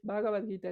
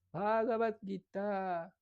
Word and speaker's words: Bhagavad Gita: O Bhagavad Gita, no es Bhagavad Gita, es Bhagavad Gita.